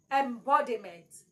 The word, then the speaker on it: embodiment: you can see that the tone went higher on B and bent embodiment ENT so your stress is on B do you understand